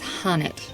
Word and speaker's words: Hanit: It's not even Hanit, it's Hanit. That's what they've been saying. I've been just saying it wrong.